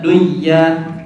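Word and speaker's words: دُنْيَا: Kecuali di dalam satu kata, maka jangan diidghamkan seperti dunia dan juga sinwan. Boleh nggak kita baca dunya atau sinwan?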